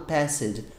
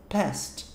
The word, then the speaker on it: passed: Então tem um E lá, eu sei, mas não é falado passed. Perde essa resistência. Fala past. Past.